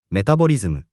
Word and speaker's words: メタボリズム: We say メタボリズム。 we can use it as is, but we usually shorten it to メタボ。 Japanese people have a habit of abbreviating words using the first syllable.